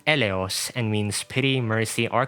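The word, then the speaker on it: Eleos: Her code name is pronounced Elos and means pity, mercy, or compassion.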